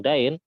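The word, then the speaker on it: دين: akhiru ayatin nazalat ayatud dain, bukan ayatud din ya, salah baca. Kalau din itu agama, ini bacanya dain.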